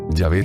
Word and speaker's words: Yahvé: se escribe ya de la pronunciación ya ve es sin duda la pronunciación más correcta del hebreo original para indicar adiós como